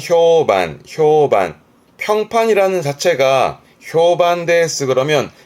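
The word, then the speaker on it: 評判: 뒷자 판 그래서 평판 발음은 효반 효반 평판이라는 자체가 효반대 그러면 평판이 좋다라는 미로 많이 쓰기도 하죠.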